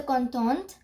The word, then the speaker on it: content: I did not pronounce the word with the T because there is no vowel or there is no E.